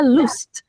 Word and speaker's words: lust: Tapi bacanya loose loose proues.